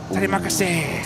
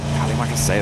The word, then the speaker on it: Terima kasih: Oh, is it Terima kasih, right? That's it. Yeah. We were learning it whilst we were over there before. Terima kasih.